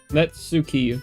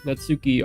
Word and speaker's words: Natsuki: I feel like the purple-haired girl's name is going to be easier to pronounce. Possibly, maybe. Anyway, this is Net. Hold on. Netsuki. Natsuki.